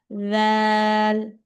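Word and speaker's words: ذال: দান, তারপর হচ্ছে লাল হচ্ছে আবার সায়ের মতো উচ্চারণ হবে। সা যেমন জিহ্বার আগা দুই দাঁতের আগার সাথে লাগিয়ে উচ্চারণ হয়, লালও সেম পদ্ধতিতে উচ্চারণ হবে। লাল, দান, হ্যাঁ মাশাআল্লাহ।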